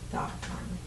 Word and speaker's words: Tha-Ron: Okay. I was pronouncing it wrong. Tha-Ron.